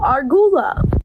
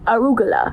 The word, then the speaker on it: arugula: I saw it at this pizza place and I said, "Ooh, argula." My friend's like, "No, Brooke, that's arugula."